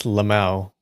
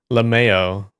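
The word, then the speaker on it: LMAO: Uh, L M AO is Lauo. That's how you say it. Lauo. Lambo. Every acronym you say each letter. It's Lauo. Some people say Lameo, which is like L mayonnaise. It's so stupid.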